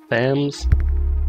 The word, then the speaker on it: Thames: London so this is how do you say the times River Thames River fans pretty sure it's the th AME yes you can have